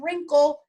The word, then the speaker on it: wrinkle: Special sound number 111, in wrinkle, WR. In wrinkle, WR. The special sound in wrinkle, WR, only allows the R sound, to be spoken. W is silent.